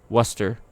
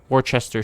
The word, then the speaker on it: Worcester: say it right away why is worcester pronounced wuster worchester shire what or kester shire pronounced wuster odd a letter from